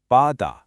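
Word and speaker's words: 바다: So now let's just put the two blocks together. Ba-da, bada. And bada is the Korean word for sea.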